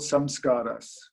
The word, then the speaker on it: samskara: our mind are called samskaras it's a lovely word if you look at it phonetically from the english speaking point of view some scars the idea being that